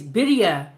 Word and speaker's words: birria: But Bridget, you're right because I went on YouTube years ago and I looked up how to pronounce it, and it was you're right. It's bidia.